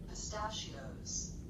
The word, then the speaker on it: pistachios: Pistachios. Pistachios. Pistachios. Pistachios. Pistachios. Pistachios. Yeah. Pistachios. So 1, 2, 3, 4. 4 syllables. Stress the second.